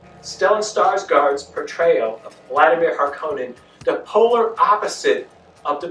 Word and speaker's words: Harkonnen: or the screenwriters because they made a thing of pronouncing certain words differently than in the 1984 version such as patasha and harkonnen they pronounce i think pedesha and parkanen and those are relatively